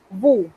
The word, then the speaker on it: vous: En francés, eso es vous. Noten que nuevamente me he comido la S. Esa S no se pronuncia a menos que haya un caso especial.